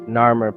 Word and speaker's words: Narmer: of two such symbols a catfish pronounced Nar and a chisel pronounced my these two signs are prominently carved on the renowned narur pallet positioned beside the